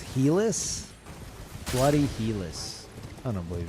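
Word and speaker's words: Helice: It's pronounced Helis.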